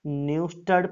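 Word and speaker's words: Neustadt: इसका थोड़ा सा प्रोनाउंसिएशन टफ है, मैं एक बार फिर बोल देता हूँ, ध्यान से सुनिएगा। न्यूस्टड प्राइज फेदर, इसमें क्या होता है, एक पंख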